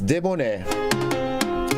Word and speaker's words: debonair: It's debonnaire. Debonnaire. It is spelled D-E-B-O-N-A-I-R.